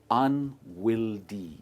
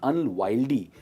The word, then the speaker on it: unwieldy: इस सेंटेंस को हम रिप्लेस कर सकते हैं इस वर्ड से और इसकी प्रोनाउंसिएशन है unwieldy. It is not unwieldy, it is unwieldy. Unwieldy ये एक 3 syllable word है।